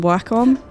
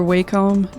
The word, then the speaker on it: Wacom: So uh from Wacom or WHcom depending on how you say it and unfortunately a